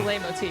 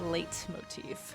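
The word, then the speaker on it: leitmotif: Is that how you say it, or is it late motif? I think it's French, so you probably dropped that T. I feel like le motif.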